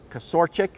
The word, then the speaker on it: Kasorchik: John, I always forget how to pronounce his names, but it's Kasorchik.